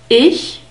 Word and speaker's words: ich: Ich, I. We have a short E sound. I. It's not I, it's I. Ich. And we have the soft CH sound. So try to whisper, yes, yes. And you will get very close to this sound.